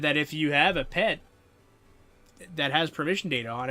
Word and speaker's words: PET: Yeah, also, I'm saying pet now, because apparently that's how you're supposed to pronounce it. It sounds so off, weird to me, but it's pet, it's not P-E-T.